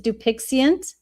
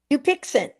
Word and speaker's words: Dupixent: talked about, which is Dupixient. Did I say it right? Dupixent. Yes. I don't think there's an I in it.